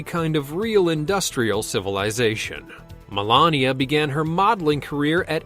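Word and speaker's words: Melanija: Melania's real name is Melania. It's pronounced exactly the same but spelled with a J.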